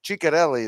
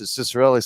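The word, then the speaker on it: Ciccarelli: Panthers fan it's Dino Shelli how do you pronounce it is it cicarelli Chelli the actual proper way is CH Chelli is over the years over the years playing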